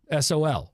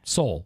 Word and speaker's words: Sol: S-O-L. Sol. Okay. Soul. Soul. Soul.